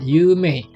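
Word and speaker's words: 有名: Begitu juga dengan kata yumei. I-nya ini bukan akhiran ya, melainkan salah satu bagian dari cara baca kanji yang kedua ini ya, bacanya mei.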